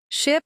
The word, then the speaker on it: ship: don't pay attention right ship has a short eye sound sheep has a long e sound they might look similar